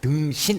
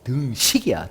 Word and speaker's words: 등식: 발음 잘해야 된다. 등신 아니고 등식이야. 등식.